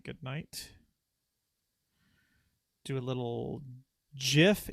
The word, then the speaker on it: GIF: Do a little GIF. Yes, I said GIF because that's the proper pronunciation.